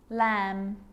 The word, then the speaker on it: lamb: romantically musically logically now there's a rule to remember with the letter b it's always silent when it follows the letter m climb crumb lamb thumb dumb and plummer so practice them with me i'm not pronouncing the b i'm just pronouncing the m consonant sound climb crumb